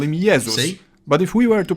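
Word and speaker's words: Jezus: religious figure Jesus in Polish we call him yeus but if we were to pronounce his name the English way we'd write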